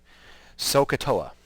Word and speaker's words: SOHCAHTOA: we use this is typically what's used okay sohcahtoa ok say it sohcahtoa so sohcahtoa the so